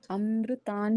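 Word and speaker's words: अमृतां: हम करेंगे अमृतान शुद्ध अमृतान शुद्ध भवो बी बीजम ओके ता के ऊपर ये जो अनुस्वार है इसको आधे न के जैसे उच्चारित होता है।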